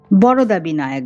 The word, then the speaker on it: বরদবিনায়ক: আমরা এখন যাব বরদা বিনায়ক দর্শনে। বরদা বিনায়ক বা হিন্দিতে বা মারাঠি উচ্চারণে বলতে গেলে বারাদ বিনায়ক বারাদ বিনায়ক 90 কিলোমিটার পুনেে থেকে